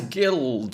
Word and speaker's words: guild: guild as well yeah but that's gu which follows the same pronunciation so Guild is a hard G even though it's followed by an eye so I'd need to